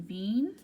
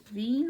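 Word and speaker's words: Wien: we're going to talk about the one in bean bean right here is actually an English pronounced Vienna it's a capital Austria there Nash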